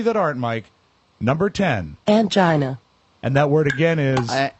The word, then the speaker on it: angina: Angina. And that word again is... Angina.